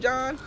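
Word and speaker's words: Jean: Oh, what's good, John? Or Gene? It's spelled Gene, but it's supposed to be John.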